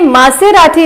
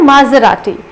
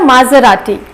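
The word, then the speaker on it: Maserati: सो ये मासेराती नहीं है, इसका प्रोनाउंसिएशन होता है माजराती। सो आप इसे थोड़ा एक साथ बोलिएगा माजराती।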